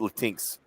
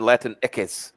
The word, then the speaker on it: Latinx: has told me before you don't even pronounce it latinx he said you would actually pronounce it latin eques because that's how you say x you know in you know in spanish but they'll you know